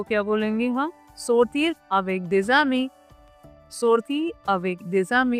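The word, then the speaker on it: sortir: सोरतीर, सोरतीर। Okay, सोरतीर। टू गो आउट को हम French में क्या बोलेंगे? सोरतीर। इस पूरे फ्रेज को क्या बोलेंगे हम? सोरतीर अवेक देजामी, सोरतीर अवेक देजामी।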